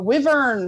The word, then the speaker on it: wyvern: kind of like a kangaroo or like a wyvern, which I had to look what a wyvern was because I didn't know what that was. A But wyvern? it's a wyvern.